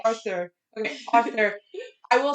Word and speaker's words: Arthur: I'd always call it author. My dad would make fun of me. He's like, no, it's Arthur. And I'm like, Arthur. Okay, Arthur.